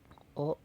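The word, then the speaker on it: を: Nah, di sini emang hiragananya adalah ee tertulis Wo. Tapi kalau sebagai partikel kita bacanya O. Jadi benda O plus kata kerja bentuk mas atau bentuk biasa.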